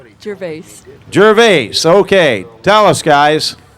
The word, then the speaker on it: Gervais: This is Gervaisi from, well, I'll tell you what. This car is from West Virginia, but I'll let pronounce her own name. Gervais.